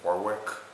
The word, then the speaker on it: Warwick: way and when they try to pronounce it phonetically all over New England. So it's Warwick, but it's Reading, not Reading.